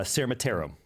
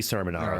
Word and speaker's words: Sermonaro: Cermatero. No. That's how we usually pronounce it. Cermatero is There's no T in there.